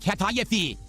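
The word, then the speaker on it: kataifi: It's pronounced katayafi.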